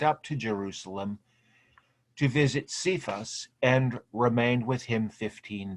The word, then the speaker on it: Cephas: I think he's called this several other times throughout the New Testament, but Cephas is the Aramaic form of Peter, okay, or Kephas, as it would be pronounced back in the day.